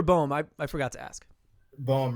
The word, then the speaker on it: Boehm: Boehm, rhymes with poem.